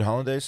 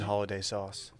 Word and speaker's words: hollandaise: You did hollandaise sauce? no, I just bought it. Okay, it's hard to make. What exactly is in holiday sauce?